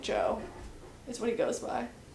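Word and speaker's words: Djo: His name is like Joe like but it's spelled DJ O and it's just pronounced like Joe is what he goes by on Spotify.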